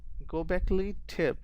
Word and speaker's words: Göbekli Tepe: go go backly Göbekli Tepe in Turkey was built by prehistoric people 6,000 years before Stonehenge.